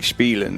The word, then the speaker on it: Spielen: So it's more of, because in German an IE is pronounced with an E sound and an EI is pronounced with an I. So I say IE and I think Spielen, which is how you,